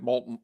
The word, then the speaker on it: Moulton: And I'm like, believe it or not, it's spelled like molten. It's pronounced like molten lava. It's pronounced like Molten, but there's, two different vowels thrown in. And I understand that kind of throws people off.